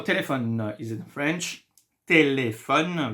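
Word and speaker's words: téléphone: it in French telephone there is Accent on the E here this is why we will pronounce it like a so anytime you see an gra gra in French you have to pronounce the sound a sometimes there is no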